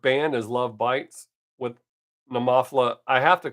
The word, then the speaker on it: Nemophila: If you Google the word Nemophila, the pronunciation is exactly how I say it, the English version. If you hit a foreign language, it'll tell you a different way.